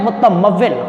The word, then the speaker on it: متمول: شعار۔ لفظ ہے متمول۔ اب یہ کیسے پتہ چلے گا کہ یہ متمول ہے؟ میم کے اوپر آئے گی پیش، تے پر آئے گی زبر، میم پر زبر، واو پر آئے گی شد، اور اس کے نیچے لگے گی زیر، اور پھر لام پر ہوگی جزم، یہ بنے گا متمول۔ اس کے بعد لفظ